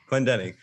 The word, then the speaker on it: Clendening: We're here with Clendening. Am I pronouncing that right? Clendening. It was close. Clendening.